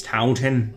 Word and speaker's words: Taunton: You pronounced it wrong. It's Taunton.